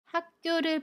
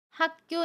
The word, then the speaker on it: 학교: 함께 알아볼게요 대학교 입학을 축하해요 이 문장에서 먼저 학교를 볼게요 학교 4 학교 라고 발음합니다 아침 기억이 다음에 오는 자음 기억을 만나면